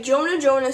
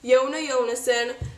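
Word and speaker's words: Jonas Jonasson: window and disappeared but Jonah Jonah said I'm just supposed to pronounce it yona yona s'en which is kind of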